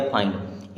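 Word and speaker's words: find: हैं आई की तरह जैसे एफ आई एन डी एफ से बना फ आई के लिए आई और एनडी से आधा ना और ड हो गया फाइंड एम से बना मा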